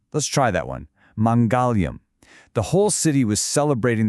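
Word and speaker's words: मङ्गलम्: It's mongalium. It's pronounced mongolum. Let's try that one. Mongolium.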